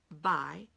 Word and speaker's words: buy: What's that U? And it's silent, okay? So how do we remember a silent letter? Well, we're going to vocalize it. And so what we're going to do is we're going to take a one-syllable word, buy, and we're going to create a two-syllable word so that we hear the U. And then we can remember it when we go to spell it.